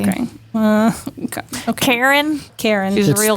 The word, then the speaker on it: Charon: There's a big moon that Charon.